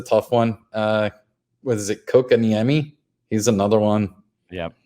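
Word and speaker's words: Kotkaniemi: When somebody phonetically told Brad on the feed how to say that, they spelled Cow Cat Miami. So now whenever he pulls his card, he goes, there goes Cow Cat Miami. That sounds pretty good, though. I like that. It's pretty close.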